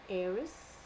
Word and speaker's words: heiress: Now, first of all, this is a list of words where the H, in all these list of words, my H is silent.